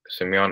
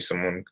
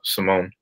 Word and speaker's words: Simon: this pronunciation of it when people would call me Simeon in the elementary school in middle school I would I would correct them and instead have them call me uh Simone pronounce it that way because I feel like a pronunciation make more sense because it seems it would be closer to the Giza Mark uh pronunciation my name so I don't like